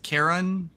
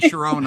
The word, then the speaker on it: Chiron: uh Well, it so the correct pronunciation is Karen. Yeah. Or Okay. Thank you. Mythology class from the Greek teacher. Oh, good. Because I was saying Chiron all this time.